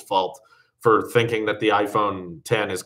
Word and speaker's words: iPhone X: The only way to know if it's pronounced iPhone 10 is if you watch a video about it where someone specifically calls it that.